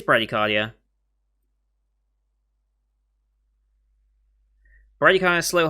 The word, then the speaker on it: bradycardia: 60 and 100 times if you're uh braggy cardia yeah bradycardia is how you pronounce it heartbeats fear of your